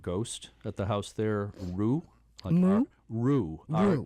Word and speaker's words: Rue: at the house there Rue. Rue. Rue. R-U-E. Okay. Street which- in French? Right, it would be. But it seems like a good name for a ghost, Rue. Like I rue the day or whatever.